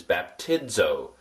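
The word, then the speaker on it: βαπτίζω: Like the word suds. Hear the dz sound in suds.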